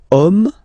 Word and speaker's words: homme: Okay, and then here we've got the word homme, man. Okay, but then it starts with H, as in French, H is not pronounced, so the first sound that we hear is O.